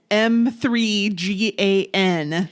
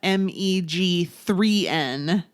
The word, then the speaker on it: M3GAN: are talking about Megan M3 GN so I have to apologize because I kept saying it wrong it's not M g3n it's M3 g n which makes so much more sense but I said it